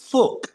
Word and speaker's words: Fuchs: Now, I've always said fuchsite, but then recently, I believe that the guy who found it, surname was actually pronounced Fuch.